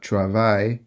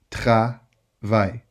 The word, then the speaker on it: travail: Okay, it's not travail, it's travail. I know, it's difficult because you don't have this type of production in terms of sound in your language, but you can do it.